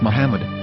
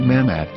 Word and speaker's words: Muhammad: yehuda's Hebrew English dictionary it is correctly pronounced as Muhammad not mmad so how we're going